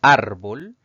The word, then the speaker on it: árbol: la siguiente palabra es árbol la mayor fuerza al pronunciar esta palabra recae en la penúltima sílaba contando derecha izquierda es una palabra grave